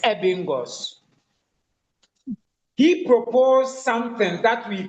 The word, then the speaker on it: Ebbinghaus: Ebbinghaus is spelled as Ebbinghaus. Ebbinghaus. Bingaus, Ebingos.